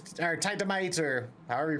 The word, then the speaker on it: Titanite: We've got dynamite and we've got some silicone and we've got some t or titamite or however you pronounce it. Titanite.